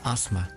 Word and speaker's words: asthma: suffer from asthma attack this is very silent eh so don't pronounce that just ozma for those who don't